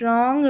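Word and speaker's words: wrong: number 49 पर है डब्ल्यू आर इसको र पढ़ेंगे राइट रॉन्ग रेस्ट यहां पर डब्ल्यू साइलेंट है नंबर 50 पर है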